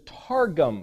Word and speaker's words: targum: It's that same word, but if you know how to pronunciate this, is targum.